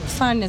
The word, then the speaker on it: fernet: para ser youtuber solo para mostrarles, dijimos ferne, se escribe fernet, pero aquí también llamo fernet, después de todo no estamos aquí, por eso podemos llamarlo fernet, ahora lo estoy tomando .